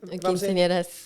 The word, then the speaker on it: quinceañeras: And I'm pretty sure, if I'm saying it right, when they turn the quinceañera, if I'm not mistaken, Quinceañeras.